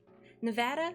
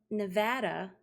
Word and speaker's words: Nevada: You've heard Nevada is correct for the people who live there. Nevada is the tourist pronunciation.